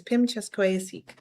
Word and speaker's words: Pimicaskweyasihk: So my pronunciation is Pimicaskweyasihk. It's Cree for Lloydminster.